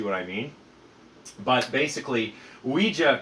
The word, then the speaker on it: ouija: i mean but basically ouija comes from the french we and the german ya so ouija basically